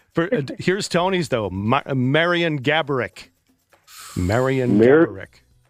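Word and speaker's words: Marian Gaborik: Marion Gabarick. Marion Gabarick. Marion Gaborit? Gabarick. How pronounce it one more time?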